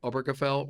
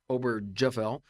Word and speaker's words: Obergefell: is really driven by Obergefell or Obergefell, depending on how you want to pronounce it, versus Hodges, which is the support of same-sex marriage at the Supreme Court level.